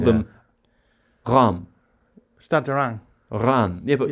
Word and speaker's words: Reims: Ran.